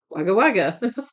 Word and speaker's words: Wagga Wagga: We also have a town in Oz called Wagga Wagga, pronounced Wagga Wagga.